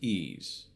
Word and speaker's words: Ys: Pronounced easy. Easy. Some of the YS stuff pronounced easy. Just Just ease some of the ease stuff.